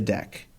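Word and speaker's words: deque: and the head so deck is short for double-ended q and as you're hearing me pronounce it it's normally pronounced deck typically there's no capacity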